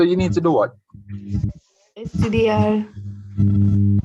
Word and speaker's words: estudiar: Estudiar. Estudiar más, more, accent on the A.